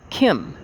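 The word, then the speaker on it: Khem: exodus from atlantis many of us followed thought pronounced thought t-o-t-h was that though to to the end to the land of kim k-h-e-m now called egypt there he built the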